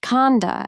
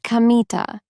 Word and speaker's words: Kamita: "It's written with the characters for God, Kami, and field, God's field. But it isn't pronounced Kanda as you might expect. It's pronounced Kamita."